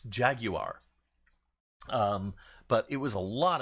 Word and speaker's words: Jaguar: And it helped me learn that it's pronounced Jaguar.